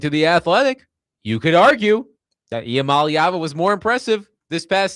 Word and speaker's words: Iamaleava: So, now I Now I can say Iamaleava like a freaking champ.